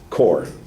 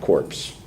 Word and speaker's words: core: to point it out core is the word not corpse okay like you said teaching corpse teaching corpse is a dead teacher all right teaching core I know it looks like corpse you know that's just